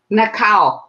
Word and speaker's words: Nakaho: welcome welcome uh am i pronouncing your name right nakaho hones nakao nakao yes japanese so that's the japanese name the cow yes well